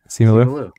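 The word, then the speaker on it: Simu Liu: Simulu.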